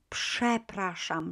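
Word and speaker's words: przepraszam: word uh it starts with przad but we pronounce it shep rasham right so it will be this again the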